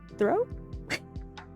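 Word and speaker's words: Throh: Throw.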